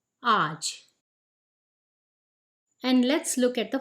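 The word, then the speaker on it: आज: this video let's start the word for this video is Arch which means today again the pronunciation is Aaj and let's look at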